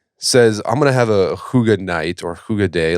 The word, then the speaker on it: hygge: I think also some Americans pronounce it huggy, and I think we should all switch to that, because that is actually,